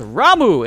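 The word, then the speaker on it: Ramuh: way the official confirmation is his name is pronounced ramu and he joins along and is looking hella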